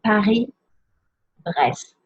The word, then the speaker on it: Paris-Brest: Un Paris-Brest. So don't pronounce the S in Paris, but pronounce all the letters in Brest, which is also a city.